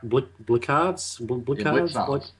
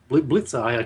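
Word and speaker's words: Blicavs: I was just going to ask about, I don't even know how to pronounce his last name. I haven't been. Mark Blickards? Blitzer.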